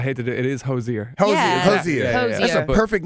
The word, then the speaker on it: Hozier: we want to feel special say hello to josier can I say it right yeah yeah it's so funny because I think when the announcers pronounced it like that on the Grammys they said Hosier I was like oh he said it wrong